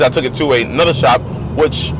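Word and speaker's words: Shoup: tuning it's not super I always said shoot there's actually shop you spell it Sh OUP shoot sounds better in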